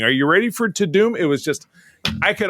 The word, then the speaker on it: Tudum: oh we missed the the I called it to dumb but when I started to watch it it's probably they don't want it didn't want people calling it dumb. Um it's pronounced to doom so is Netflix to doom event really apparently